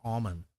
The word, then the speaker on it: almond: Oh, people come up with 2 different ways to pronounce almond. Tomato. That's easy. It's an almond until you shake the L out of it, and then it's an almond.